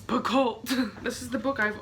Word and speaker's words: Picoult: minutes by Jodi Picoult someone just corrected my pronunciation of that I've been saying it that way since I was like in high school so it's Picoult this is the book